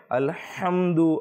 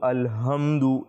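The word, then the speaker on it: الحمد: পূর্বেও আরজ করেছিলাম যে আমাদেরকে মাখরাজের ক্ষেত্রে আলহামদু আলহামদু এই যে উচ্চারণের পার্থক্য রয়েছে হা এবং হা এর মধ্যে এগুলো কিন্তু আমাদেরকে করতে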